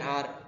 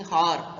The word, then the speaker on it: hour: H is a silent letter. We should say the word and we can use an here. Our flight got delayed by an hour. An hour in the sense or we are not using har, right? So har is not a correct pronunciation. Or is a correct pronunciation, right?